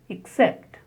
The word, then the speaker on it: except: Stress on the second syllable. Zact. The next word is except.